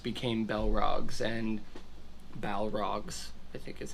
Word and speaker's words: Balrog: darkness and evil things and there is where bellrocks became bellrocks and balrogs i think is how it's technically pronounced doesn't matter and dragons became dragons and